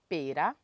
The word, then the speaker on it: pera: La poire, on appelle ça pera. Pera. Il faut faire le roulement pour bien prononcer les R.